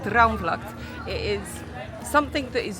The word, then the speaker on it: Droomvlucht: Told you she can pronounce it right. Droomvlucht, it is something that is new.